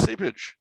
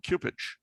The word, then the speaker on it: Cupich: Oh, only in your mind is that pronunciation. Why? Is there another? Do you have no idea what it is? Yeah, it's Sipich. Okay. No, I know he gets upset when people call him Cupich.